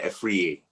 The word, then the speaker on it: Afriyie: okay well you can that's kind of like an ethnic pronunciation so you just say a free that that works better it's easier to say